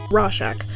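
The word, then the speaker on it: Rorschach: Have you by any chance heard of the Rorchack? Rorchack? I need to Google the pronunciation on that. Hold on. Rashack.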